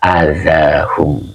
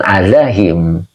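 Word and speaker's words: أذاهم: karena untuk memudahkan qiraat ini dibaca ala adzahum begitu Bukan adzahim ya karena ini Kebetulan Aza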